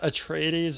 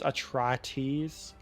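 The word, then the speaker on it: Atreides: Paul it's Palo not atraes it's atraes supposed to rhyme with atrocities but uh you're you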